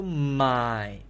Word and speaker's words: 买: So my is low tone. It's a V shape, low tone. My.